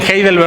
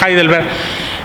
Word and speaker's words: Heidelberg: Y bueno, como ya se decía, Heidelberg, bueno, algunos pronuncian Heidelberg, otros Heidelberg, es el nombre de una ciudad alemana.